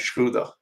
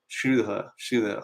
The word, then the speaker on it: Schröder: So Dennis Schroeder, because I've seen him pronounce Dennis Schröder. Schröder. I know my accent isn't on point, that German accent, but what are the